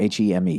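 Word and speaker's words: heme: I had a strong suspicion early on that, I don't know how to say the word, H-E-M-E, hem, would be the magic ingredient for flavor.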